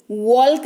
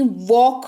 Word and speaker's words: walk: WALK, वॉल्क नहीं वॉक हो गया।